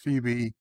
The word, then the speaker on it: Phoebe: You just watched Phoebe, pronounced Phoebe.